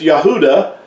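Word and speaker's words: יהודה: that's what it is, but it's Yahudah. And again, you hear the U sound in Yahudah.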